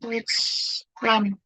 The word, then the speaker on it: Deutschland: Gitu ya, Deutschland, Deutschland. Nah, ini kan jangan baca Deutsch, tapi Deutschland, Deutsch, EU ya sama OI dibacanya Deutschland.